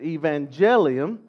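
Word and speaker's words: protoevangelium: proto means first at Evangelium maybe you can detect it some people pronounce it Evangelion you hear the word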